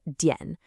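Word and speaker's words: 点: It's this character right here, dian, which we pronounce as dian.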